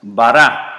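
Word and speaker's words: ברא: es una a Y esto es una alif que no se pronuncia bará así se lee para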